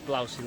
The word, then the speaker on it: Blausee: much as i love blousey lake that's how you say it is a massive massive